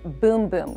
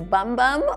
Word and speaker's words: Bum Bum: So next up, we have the Brazilian Boom Boom Cream. I know it looks like it says bum bum on the little jar here, but in Brazil, they pronounce it boom boom.